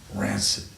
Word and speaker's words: rancid: Noun, adjective, hard C, soft C, rancor, rancid.